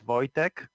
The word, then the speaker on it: Wojtek: okay let's have it it's boy tech the first name both attract okay I'm gonna try his shot in Wojtek put a check how'd